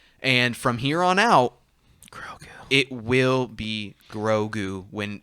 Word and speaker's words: Grogu: All right, It's Grogu, not Gorgu.